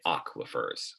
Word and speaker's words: aquifers: is rocks and aquifers that's how you say it aquafers a geosphere also affects